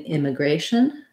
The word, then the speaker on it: immigration: to our last topic if i look at then immigration my a in immigration m the gray syllable is stressed and then i have the clear vowel a versus in this word immigrant that a gets reduced down to the it or the schwa um so syllable stress